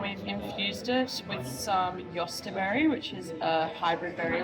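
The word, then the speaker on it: jostaberry: infused it with some yosterberry, which is a hybrid berry we're growing out in the garden. Yosterberry. Yeah, it's spelled like Jos. Actually, it might be on here. Yeah, Josta berry.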